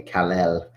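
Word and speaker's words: Kal-El: Um, but Kalel, which I like to say his name is Superman Way Kalel.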